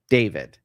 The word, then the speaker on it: D4VD: It's spelled D4VD. David, right?